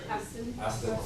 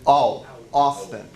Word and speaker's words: Austin: Aston. Aston. Or Ustin, depending what our short vowel was. But it's Austin. It's that longer sound.